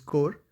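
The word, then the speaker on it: Corps: coming from a technical brand that is uh core of signals uh for sure the spelling looks like C RPS but it is pronounced at as core this is core of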